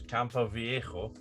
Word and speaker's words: Campo Viejo: Oh, well, if we're doing sponsors, Campo Viejo. Yeah, that's what. Thank God you pronounced that correctly.